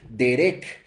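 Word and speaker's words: דרך: caminos viene del hebreo derec derec con acento en la segunda e y con k que no significa un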